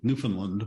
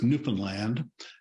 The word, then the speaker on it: Newfoundland: province that's exactly on the East which everyone mispronounces and calls it Newfoundland but it's Newfoundland and I was born in a small town